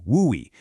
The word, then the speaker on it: WUI: Hayden Park or tucked right up against the foothills, you absolutely need to know about the WUI, which we pronounce woo-wee.